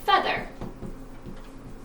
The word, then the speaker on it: feather: So for example, the word feather. EA, short E sound, which rhymes with weather.